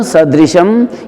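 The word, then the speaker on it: सदृशम्: गगन सदृशम, ये 6 के 6 अक्षर लघु हैं, तो कैसे बोलेंगे? गगन सदृशम, सदृशम नहीं करेंगे, बलाघात नहीं करेंगे स के ऊपर, क्योंकि द और री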